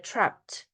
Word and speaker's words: trapped: 그리고 참고로 말씀드리면이 있잖아요 과거 형이나 p가 붙은 이런 형태는 앞부분은 발음이 좀 세면 세면은 뒤에가 트 소리가나요가 아니라 traped 이렇게 되는 거고요 그죠 tred been tred